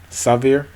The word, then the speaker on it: Savere: It's spelled Savere, Severe.